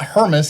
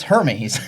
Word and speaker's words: Hermes: It's not Hermas, it's Hermes.